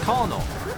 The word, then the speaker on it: Colonel: I'm like, where is the R? Yeah. Where? There isn't. Where's the K? It's like, oh, it's not there. It's like, then why is it pronounced that way?